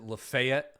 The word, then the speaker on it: Lafayette: You know, in Mississippi, uh, in Mississippi, they pronounce it LeFay, like Oxford, Mississippi.